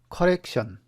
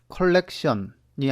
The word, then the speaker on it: 커렉션: 그 다음에 컬렉션, 수정하는 커렉션. 컬렉션은 수집이고 커렉션은 수정이죠. 발음 조심하세요. 컬렉션이 아니라 커렉션, 수정이죠. 수정.